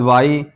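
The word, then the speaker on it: why: वाई वाई एच से पहले डब्ल्यू और एच के बाद वाई तो यह एच नहीं पढ़ा जाएगा।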